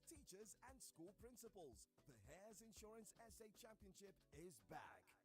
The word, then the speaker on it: Heirs: Hares is spelled HEIRS. The competition is open to students in JSS 1 to JSS 3 only. Application deadline is July 7, 2024. The Hares Insurance SA Championship is brought to you by